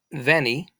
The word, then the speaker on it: veni: So veni, which in Latin, in ancient Latin, the ancient Romans would have said veni, but we'll say veni. Remember, you can take the V and make it a W.